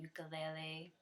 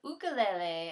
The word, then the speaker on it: ukulele: it's actually called a ukulele or ukulele as they pronounced in Hawaii or you can even